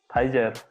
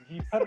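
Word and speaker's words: Pfizer: फाइजर. जीफर पढ़ रहे थे. जीफर पढ़ रहे थे हम तब से. बड़ा प्रोनाउंसिएशन मिस्टेक है महाराज.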